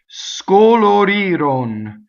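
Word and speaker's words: scolorirono: Scoloriroŋ. There is not one open vowel in this word. The accent is on the E vowel, you see. Scoloriroŋ. Thus, all the other vowels are closed.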